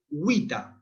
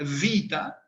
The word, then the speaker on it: vita: Nosotros, en la pronunciación clasicista, la vamos a pronunciar Wita. La vida es Wita. O si no, se puede pronunciar vita, como en italiano, ¿Es el labio dental? El labio dental, exactamente, como en italiano. O también se puede pronunciar igual que la B, vita.